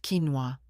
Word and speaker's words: quinoa: "No, Mom, it's pronounced quinoa."